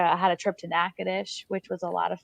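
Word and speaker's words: Natchitoches: had a trip to nakadish which was a lot of fun um i now know how to pronounce it it's not natachi's which is what i had originally thought so i had a lot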